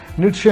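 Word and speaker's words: Nietzsche: نیٹشے ہم بولتے ہیں نیچا، اس کا صحیح تلفظ ہے، میں نے جو اہل زبان سے سنا.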